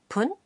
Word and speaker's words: 分: that when 10 is followed by F it's pronounced pun listen and repeat after each one 5 minutes